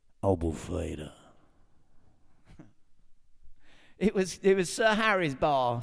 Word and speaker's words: Albufeira: You're talking Albufeira. That's how you say it, right? If you're on the radio in Portugal, Albufeira.